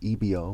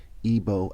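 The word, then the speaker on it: Igbo: the word Ebo, spelled E-B-O, which is another way to spell Ebo, which I-B-O, I-G-B-O, the G is silent, and E-B-O.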